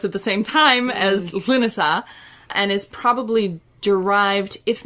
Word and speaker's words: Lughnasadh: It is pronounced Lughnasadh, and it is spelled much closer to that in modern Irish.